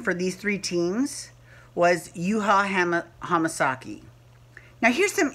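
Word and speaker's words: Yuhua: that is not Japanese now even though it's pronounced you ha it's actually spelled you ha and there is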